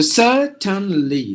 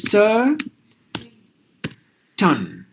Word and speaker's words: certain: by a consonant so certainly certainly and here it is Sir ton because I use mute so certain that's how we have to pronounce this word so I hope you